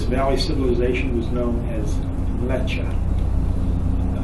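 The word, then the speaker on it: Mleccha: civilization was known as lecha m-l-e-c-c-h-a leche you can hear that hear the name in there mecca in there lecha is the modern way of pronouncing it's the more periodized or indo-european way of pronouncing a very old name the people of that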